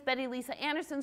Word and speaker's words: Betty Lise Anderson: to drift technical talk and my name is Betty Lisa Anderson so you know how to pronounce that I'm from V Ohio State University